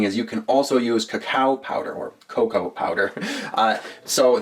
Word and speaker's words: cacao: All right, but coffee and cocoa, or cacao as it's technically properly pronounced, will make a really great rub for your ribs if you're looking for that sweet, succulent flavor.